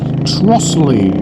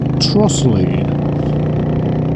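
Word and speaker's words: Trottiscliffe: It's spelt Trottis Cliff, but apparently it's pronounced Trossley. Trossley, which would mean the cliff part of it is the Lee bit, so maybe that's Lee Woods.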